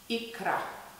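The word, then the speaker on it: икра: Russians pronounce caviar ikra.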